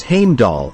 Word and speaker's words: Heimdall: welcoming the dead heroes into their midst heimdollar Heimdall as mentioned above is pronounced as Heimdall and is spelled as heimdollar going by Norse